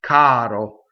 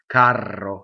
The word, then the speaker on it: caro: So there's a single R, right? Single R. Caro means dear, beloved, dear. If you say carro, it means something else like a box car to a train or a stage coach or something like that.